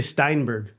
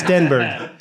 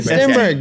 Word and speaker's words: Stenberg: And you say Steinberg. Yeah, what am I supposed to There's say? no I in my last name. It's Stenberg. The E is pronounced with soft. It's a softie.